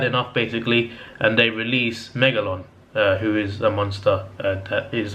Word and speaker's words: Megalon: got to tell you my cologne is I'm saying it right why is it make it yes Meg alone is Meg alone it's a pretty badass